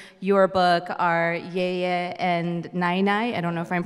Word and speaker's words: năinai: And I think my two favorite people in your book are Yaya and Nai Nai. I don't know if I'm pronouncing that correctly, but your grandparents. Yeah, yeah, Nai Nai.